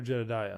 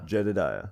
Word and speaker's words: Jedidiah: my name too but it is or jedediah jedediah it is that it's spelled out to say no j-e-d-e-d-i-e okay so